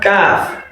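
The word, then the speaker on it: كاف: So after qaf, we have kaf. Look at the structure of kaf. We have kaf. Now, kaf is just like K, while qaf is like Q.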